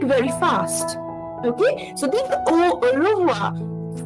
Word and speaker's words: au revoir: So we will pronounce au revoir, au revoir, au revoir. Again, you are not pronouncing the last R.